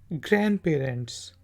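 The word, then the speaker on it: grandparents: दादा दादी को, नाना नानी को कहते हैं ग्रैंड पेरेंट्स। तो डी जो है इसमें साइलेंट है, ग्रैंड पेरेंट्स।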